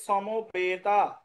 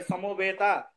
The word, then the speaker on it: সমবেতা: ধর্মত্রে ধর্মক্ষেত্রে কুরুক্ষেত্রে দন্তসার উচ্চারণ স হবে তাহলে কি হবে সমবেতা বলুন আমার সঙ্গে সমবেতা সমবেতা এবার অন্তরজ থাকলে ইউ